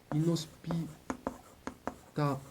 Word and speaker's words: inhospitalière: Inhospitalière, parce qu'on voit tout de suite dedans le mot hôpital.